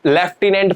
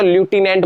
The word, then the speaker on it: लेफ्टिनेंट: इसको पढ़ के देखो क्या है, बहुत सारे बच्चे इसको लेफ्टिनेंट पढ़ रहे होंगे, प्यारे बच्चों लेफ्टिनेंट नहीं है, लेफ्टिनेंट नहीं है, ये जो स्पेलिंग है इसको हम बोलेंगे तो ल्यूटिनेंट बोलेंगे। क्या बोलेंगे, ल्यूटिनेंट बोलेंगे। देखो इंग्लिश में ल्यूटिनेंट ही बोलते हैं, हिंदी में लेफ्टिनेंट बोलते हैं, मेरी बात समझ में।